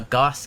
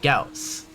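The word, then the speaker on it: Gauss: with, um, is, well, I only ever heard it be called a Goss cannon. Um, so it wasn't until I played Warframe that I heard it be pronounced Gaus. So I grew up with it being pronounced uh incorrectly.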